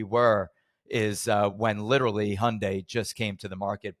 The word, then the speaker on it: Hyundai: name the guy goes just say Sunday I goes Sunday he goes now say Hyundai and I go all